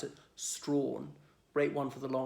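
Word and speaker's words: Strachan: like it's belts tracking well looks like it's pronounced tracking but pronounce it strong break one for the long ways there what's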